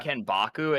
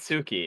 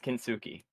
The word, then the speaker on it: kintsugi: It's not kenbaku. It's fucking. I think it's called like giorni or something, or joinery or whatever. However you would Hold pronounce on, it. hold on. I'm gonna look it up. It's Japanese- kintsugi. It's kintsugi.